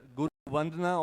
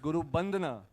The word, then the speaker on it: Vandana: The opening dance that is called Guru Vandana, or as we pronounce it in the Northeast, Guru Bandana, beautifully captures the greatness of the Vaishnavite saint Sri Sri Shankaradeva.